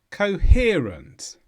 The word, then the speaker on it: coherent: is an adjective and the stress is on here coherent and this means clearly organized